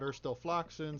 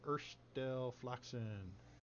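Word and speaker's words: Urstul Floxin: Erstel Floxen is spelled Urstul, almost, Floxin. So it's a UL and an IN.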